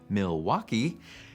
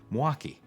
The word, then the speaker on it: Milwaukee: wisconsin if you said milwaukee you might not fit in with the locals the more common pronunciation drops the l sound and might even smush the name into two syllables more like milwaukee of course as alice